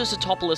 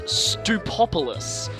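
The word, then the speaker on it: Sootopolis: I was a kid, I actually pronounced this place Stupopolis. I don't know why, I just did. This was always Stupopolis City for me.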